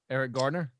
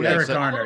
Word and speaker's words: Garner: Eric Gardner. So, Eric Garner, yeah. I mean, say his name. name. A lot of things, I'm sure, in Staten Island. Elsewhere, they call him Eric Gardner.